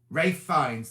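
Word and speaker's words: Ralph Fiennes: it's got carrie mulligan ray fines now i'm not sure why they say it rave because it's spelt ralph isn't it but ray finds and then this little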